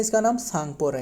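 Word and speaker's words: Tsangpo: यानी तिब्बत में तिब्बत में इसका नाम सांगपो रहा है। सांगो सांगपो का spelling T एस ए एन जी पी ओ सांगपो है ना।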